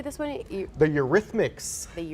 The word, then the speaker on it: Eurythmics: benatar how do you say this one the eurythmics the eurythmics yes popular 80s group yeah carly simon as